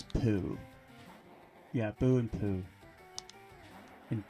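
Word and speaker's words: ぷ: But if it has a circle over it, it's actually pronounced I think that one's poo.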